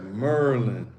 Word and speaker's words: Maryland: Yes, that's how you say it. Merlin. Merlin. I thought that was a person. That sounds like a person's name. No, it's not Maryland. It's not Maryland. Maryland. It's Maryland. Merlin.